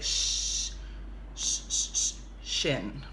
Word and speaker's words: shin: it's called their shin now sounds a little similar like the chin but look at this this one is too chin this one is like Shh in right so we spell it this way okay do s H